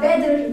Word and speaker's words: better: Bu arada İngilizce'de iki T yan yana gelince Diyarbakır'ın D'si gibi okunur. It doesn't matter. Mesela bottle, şişe demek. Mesela better, daha iyi demek. Şu T'ler yan yana geldiğinde Diyarbakır'ın D'si gibi okunuyor.